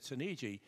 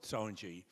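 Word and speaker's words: Soneji: and they asked me, how do you pronounce S-O-N-E-G? And I said, Sonegi. So, of course, in the movie, they called it Sonji.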